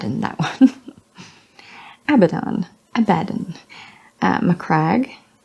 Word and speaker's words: Macragge: that one Abaddon Abadan macragge crag yep Acadia cat urchin cat